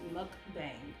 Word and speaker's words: mukbang: a story time +8 look bang that's how you say it I have a lot